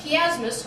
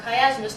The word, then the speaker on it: chiasmus: Okay, so you have this chiasmus, or chiasmus, depending on how you want to pronounce it, and that's the Greek letter chi,